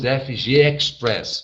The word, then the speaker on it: FGXpress: E nós pronunciamos FG Express, ok? Brasil, mas escreve FGX Press Brasil.